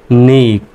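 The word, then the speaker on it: knee: তাহলে এন দন্তন আরড ডাবলইতে দীর্ঘইকার তাহলে উচ্চারণটা আসতেছে নি কে এন ডাবলই তে নি উচ্চারণ আসতেছে এগুলো কিন্তু সাইলেন্ট লেটার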